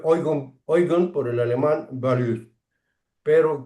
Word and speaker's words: Eigen: Se pronuncia Eugen por el alemán Values, pero quiere decir, cuando